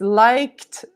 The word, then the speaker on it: liked: quest Yeti it's correct Edna says like with a D cosimo agrees liked like but no guys liked with a t I liked your your